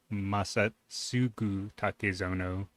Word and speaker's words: Masatsugu Takezono: It's Masatsugu Takezono. Sorry for the mispronunciation.